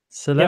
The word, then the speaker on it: Celeste: Celeste.